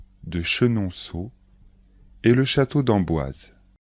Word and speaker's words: Chenonceau: sont les châteaux de chambor de Blois de chenonau et le château de ise les plus célèbres